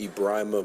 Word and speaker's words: Ibrahim: you once again that my name is pronounced Ibrahim Beau thank you yeah he